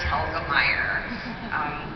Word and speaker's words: Telgemeier: tire so Helga tire tell the Meyers yeah it's tricky it's German some books graphic novelist